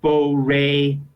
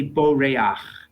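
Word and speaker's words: בּוֹרֵחַ: Columns of Hebrew words you see the word Bo re our understanding would be right yes yes but it's it's actually Bo rayach and um yeah yeah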